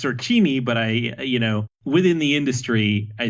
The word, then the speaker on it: Sorcini: Formally, it's pronounced Sorcini, but within the industry, I think it's just sort of been mangled to Sorcini enough that I'm like, you know what?